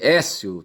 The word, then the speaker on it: Aécio: É um dígrafo, tá certo? E é um ditongo, onde se deve dizer Écio, tá certo? Se escreve AE, duas letras, tá certo? Mas se pronuncia É.